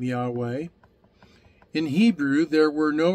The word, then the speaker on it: Yahweh: Its pronunciation comes by using the traditional sounds used in the word Adonai, or Lord. Thus, the pronunciation of the sound of the name would be like that of breathing.